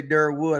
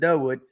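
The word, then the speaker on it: Durwood: Jim Tunna who owns uh Cruz in 94 and along with Dwood Domin remember I didn't say Dur Wood I said Dwood uh those guys I started noticing they never pronounce their Rs and more and more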